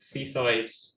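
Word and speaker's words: CSIDH: Um yeah so this is a an isogy based key exchange called seaside. Um yeah you wouldn't think it's pronounced like that but that's what we go with.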